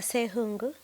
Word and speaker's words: Ssewungu: So, naturally, my name's pronunciation is supposed to be Ssewungu.